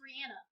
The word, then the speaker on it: Rihanna: was it rihanna's her real name and it's pronounced rihanna okay there was an interview about it no